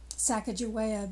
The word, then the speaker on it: Sacagawea: sacagawea or bird woman sacagawea being the common pronunciation of her name she had been abducted